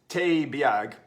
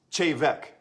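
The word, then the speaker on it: Té Bheag: it looks like tea bag it's like it's teh bag it's actually pronounced shave Eck okay so this is a cool a cool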